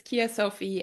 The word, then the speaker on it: Kea-Sophie: it's so interesting because it's differently pronounced in English and German so in English it's Kia Sophie and um Kia with an e um a lot of